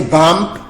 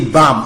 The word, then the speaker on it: bomb: Do not say bump. Say bomb. Only bomb. Bomb. The last B is a silent letter.